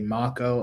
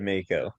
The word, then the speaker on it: Mako: who is played by I think you're supposed to say MCO. I think that's the proper way to say his name. But I always like, you've all said Mako.